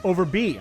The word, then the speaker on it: Overbey: Overbey.